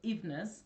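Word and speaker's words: Evenes: is your full name my full name is ivness which is spelled e-v-e-n-e-s i normally just put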